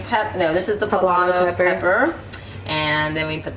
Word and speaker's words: poblano: i have pleb how do you say that papalano peppers poblano peppers thank you very much and this is